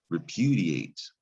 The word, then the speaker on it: repudiate: you you say repudiate now the ia valve pair it looks like it should say die ate like dial that i would make a long i sound but sometimes that i can make a long e sound this is repeat d8